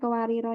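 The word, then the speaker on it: قواريرا: Jadi kalau berhenti di kuariro yang kedua, jadi bacanya kuariro, kuarir, begitu ya.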